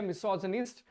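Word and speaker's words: misogynist: लेकिन ये क्या है, मिसोजनिस्ट, प्रोनाउंसिएशन इसकी है मिसोजनिस्ट।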